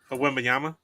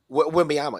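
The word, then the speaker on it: Wembanyama: I can't pronounce his name. Wembayama? Wembayama, yeah.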